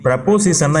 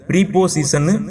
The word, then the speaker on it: preposition: அதுக்கு முன்னாடி ப்ரப்போசிஷன் என்னன்னு ஒரு தடவை தெளிவா பார்த்துடலாம். நாம ஏற்கனவே 3 எபிசோட்ஸ்ல பார்த்த மாதிரி இந்த PREPOSITION இதை ப்ரீபோசிஷன் ப்ரொனவுன்ஸ் பண்ணக்கூடாது, ப்ரப்போசிஷன் தான் ப்ரொனவுன்ஸ் பண்ணணும்.